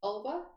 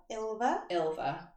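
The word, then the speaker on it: Ylva: Called, how are you pronouncing it? Ulva? Ilva. We'll go Ilva.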